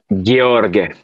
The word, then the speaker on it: Gheorghe: In Romanian, you'll pronounce it Gheorghe.